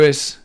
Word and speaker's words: Is: And the mantra is pronounced Is. Master Samael says, the letter S should be pronounced like a very gentle whistle.